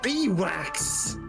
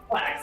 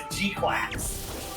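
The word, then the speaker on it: GQuuuuuuX: Oh, I thought they I thought they said Bwax. No, Gwax. That's how they pronounce it in the show is Gquax. Uh, Ux. Okay. I heard it as Quacks.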